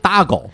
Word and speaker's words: taco: 所以这个西语说这个 taco 就是大狗，大概的发音是这样，就是大